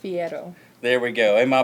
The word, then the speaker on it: Fierro: say your last name it's pronounced Fiero there we go and